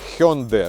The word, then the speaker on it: Hyundai: правильно вимовляється назва компанії спеціалісти кажуть що правильна вимова hyundde но ми більш привикли до назви Hyundai тому напевно я й